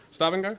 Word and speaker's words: Stavanger: Stavanger, I think is how you say it. Stavanger, thank you.